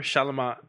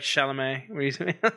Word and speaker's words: Chalamet: uh salamat shalom shalom that's how he pronounced it remember shalamat more like chalamet oh yeah when i